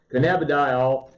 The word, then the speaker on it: cannabidiol: Cannabidiol, you've heard all the health benefits.